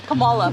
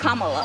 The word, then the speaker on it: Kamala: how to say her name earlier you said commala the way she pronounces her name is Kamala you don't work with theas see that car